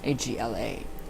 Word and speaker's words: AGLA: It is represented by the acronym AGLA, pronounced Agla, and that is when you face the north and you do the pentagram and you intone and vibrate Agla.